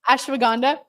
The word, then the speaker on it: Ashwagandha: Ashwagandha.